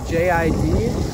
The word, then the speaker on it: JID: Coming in at number 5, we have The Forever Story by J.I.D. or Jid, however the fuck you want to say it.